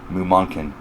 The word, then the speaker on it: Mumonkan: Mumonkan. I'm like damn sure it's pronounced that way.